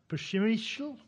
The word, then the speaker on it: Przemyśl: a fortress, and I'm going to try to pronounce the Polish name here, Przemyśl, which lasts for a long time.